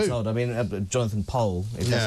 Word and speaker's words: Powell: Overnight, it turns out, Jonathan Pole, as I say, pronounces his name Pole. I don't know why, because it's spelt Powell, but he's always been very strict about it.